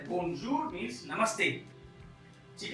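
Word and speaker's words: bonjour: इसके बाद है ओ एन ए एन, ओ एन ए एन, इसको प्रोनाउंस करते हैं ओ। तो यहाँ पर जो शब्द है वो है बोनजूर, जो मैंने ऊपर लिखा बी ओ एन जे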